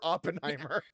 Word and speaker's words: Oppenheimer: the 10 o'clock showing for upon I keep pronouncing it wrong the 10 a.m showing for Oppenheimer the tenant well because we had we we